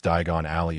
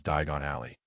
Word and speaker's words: Diagon Alley: Not to mention, Harry did not mispronounce Diagon Alley as Daigon Alley, but with his current mastery of goblin fire,